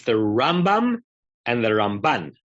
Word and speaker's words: Ramban: So I read ahead to Rambam.